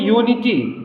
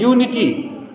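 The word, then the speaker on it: unity: रहा है य क्योंकि हम बोल रहे हैं यूनिटी क्या बोल रहे हैं यूनिटी तो इसका प्रोनंसिएशन कंसोनेंट साउंड से शुरू होने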